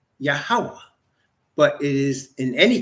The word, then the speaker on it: Yahweh: Now, some people pronounce those four letters Yahuwah. I personally pronounce it Yahweh, but it is in any case not God, and it is not Lord.